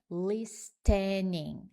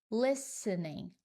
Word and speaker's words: listening: Então, a pronúncia não é listening. Não, você ignora completamente o T. Listening, listening, tá?